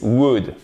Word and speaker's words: would: On ne prononce pas le L. Et c'est le même ou court que vous avez dans good, would, ok?